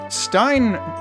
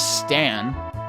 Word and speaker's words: Stan: Stein as it is spelled in the translation really is Stan. Like it's s How do you get Stein out of that? There there's no there there's no long I sound in there at all. There's only a short a sound. Um, so I don't know why it's not Stan.